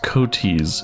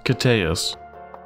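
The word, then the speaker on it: Koteas: ever heard that pronounced it's not elas Coes it's elas cus elas cus apologies Mr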